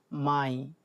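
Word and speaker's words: Mai: তারপর আছে কি মাই, মে যেটা সেটা হচ্ছে মাই।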